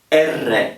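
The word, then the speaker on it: erre: it's r r now this one is called ER in Italian ER so it's spelled e r r e ER now why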